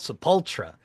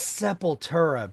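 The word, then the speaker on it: Sepultura: So, I was like, I think that's seepura, bro. I think that's how you say it.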